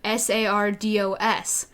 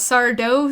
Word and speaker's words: Sardo: that Sardo is spelled sa RDOs but see in character on episode 2 I kept saying there's only one Sardo and it's not sourdough sand like this it's